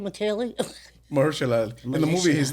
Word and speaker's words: Mahershala Ali: Mahershala Ali. Mahershala Ali, yeah, that's it.